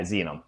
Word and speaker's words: Xenom: Am I pronouncing right? Xenom. Yeah, Xenom.